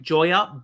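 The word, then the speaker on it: Joiya: Joya Bayer.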